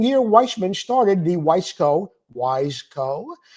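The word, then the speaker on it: Wiseco: So the following year, Weissman started the Wissco Wise Co. not Weissco like some people pronounce it, Piston Company.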